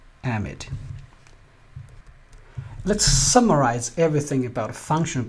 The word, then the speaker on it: amide: Some textbook call, some people pronounce this as amide. Usually I prefer amide.